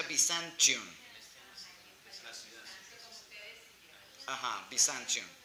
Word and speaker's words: Byzantium: Pero en inglés se pronuncia Byzantium.